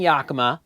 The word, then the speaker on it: Yakima: I spent a great deal of my life dealing with roof racks, and years ago, Thule and Yakima, that's how you pronounce both of those companies' names, Thule and Yakima decided